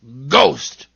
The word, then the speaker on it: ghost: And I know of one word where H is silent in the middle. Ghost.